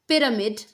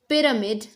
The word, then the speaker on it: pyramid: No, this should be pyramid, pyramid.